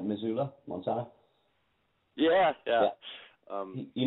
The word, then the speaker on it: Missoula: he you made your first film um I pronounce that right Missoula Montana yeah yeah um you made your first